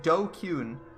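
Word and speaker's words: DQN: its original meaning okay japanese netslang pronounced dokun refers to people who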